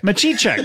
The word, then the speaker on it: Matichek: but uh please welcome to the show Medici check sorry that's all right I'm a t check you you uh pronounced it the way it's spelled I did